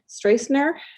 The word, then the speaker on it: Strasner: name but it's it is it strasner you nailed it that's perfect as